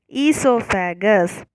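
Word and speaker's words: oesophagus: The first letter is O. O is silent here, okay? So we need to pronounce it esophagus.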